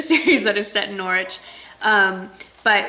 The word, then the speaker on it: Norwich: There is a book that in the series that is set in Norwich, but it's in England, set in England. And Norwich, the W is silent.